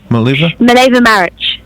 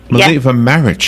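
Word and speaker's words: Mileva Marić: First of all, did I pronounce the name of your character, Mileva Maric? Mileva Maric. Mileva Maric.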